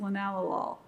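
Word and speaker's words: linalool: is lenol which looks like lenol but it's pronounced by chemist linalol and um that compound is one of the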